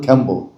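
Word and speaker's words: Rimbaud: নজরুলের মতো একজন কবি ছিলেন ফ্রান্সে, তার নাম হলো জাঁ তু র্যাবো, ফরাসি উচ্চারণ হলো খ্যাম্বো।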